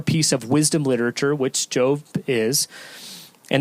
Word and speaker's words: Job: to a man named job or yo if you were to pronounce it in the Hebrew who hails from the